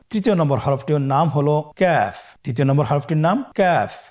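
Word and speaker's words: ك: আবার বলুন ক্যাফ। কাফের মাখরাজ আমরা স্ক্রিনে দেখতে পাচ্ছি। কাফের মাখরাজ হলো জিহ্বার গোড়া থেকে একটু আগে বাড়িয়ে তার বরাবর উপরে তালের সঙ্গে লাগিয়ে উচ্চারিত হয়।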